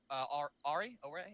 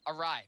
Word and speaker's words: awry: assault on Objective Ajax went Ari? I actually don't know how to pronounce that word. That's kind of funny. Awry. Thank you.